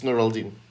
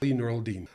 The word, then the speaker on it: Nuraldin: the uh what's the correct uh way to pronounce it is it neuraldine neuraldin uh it's neuraldine yeah neural dean all right well thank you so much for